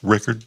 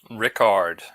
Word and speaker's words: Rickard: Is it pronounced Rickard? Ricard. No, Ricard. Oh, like Oh, like um like Captain Picard or um there's a French a strange French liquor called uh Ricard.